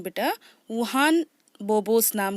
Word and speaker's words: Juan: यहाँ पर वुहान की जो स्पेलिंग है बेटा वो JUAN है ना। तो लेकिन उसे वुहान प्रोनाउंस करेंगे।